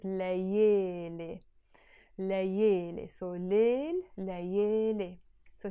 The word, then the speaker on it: ليالي: But in Lebanese Arabic, we don't pronounce it layali, we pronounce it layele.